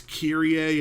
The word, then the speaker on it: Kyrie: there's this one girl her name is kyrie a and it kills me